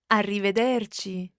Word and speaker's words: arrivederci: it is arrivederci Francesca let's hear the proper pronunciation of this arrivederci kitty dirty and this literally means until we